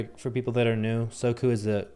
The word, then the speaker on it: Soku: So Soku, for people that are new, Soku is the Japanese pronunciation of the translation of the word immediately.